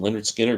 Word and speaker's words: Lynyrd Skynyrd: MC5 the one that probably won't get mentioned Leonard Skinner pronounced yeah Lynyrd Skynyrd I mean come on almost made my list